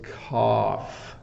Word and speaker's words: cough: this person is coughing the challenge with cough is the GH um for people who are learning English so just have something flying around here so it's cough it's a it's an F sound at the end so um when you